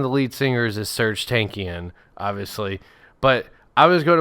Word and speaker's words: Tankian: And the lead singer, one of the lead singers, is Serge Tankian, obviously. But I was going to play a. Is he related to Walter Markinson? No, he's not. You know who Serge Tankian is, but I was going to play a game.